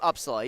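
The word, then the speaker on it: Upsala: Yep, Uppsala.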